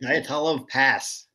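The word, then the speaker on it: Dyatlov Pass: What, how do you pronounce that, Mike? Diatolov Pass.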